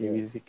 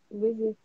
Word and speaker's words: Wizik: Ibrahim I Hamid can't Ko, pronounce it. Wizik. Wizik.